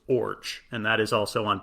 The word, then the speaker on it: Iorg: According to a 1985 New York Times article, the name is Danish and pronounced Orge. And that is also on Baseball Reference, just O-R-J, pronounced like orange with no N, Orge.